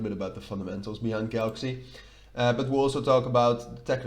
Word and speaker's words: Galxe: which we'll talk about the Galxe token or Galxe, which is, I'm pretty sure you pronounce it like that, but ever since they changed the name, I'm not 100% sure. Galxe it is. I think it's just a kind of a play with Galaxy, right?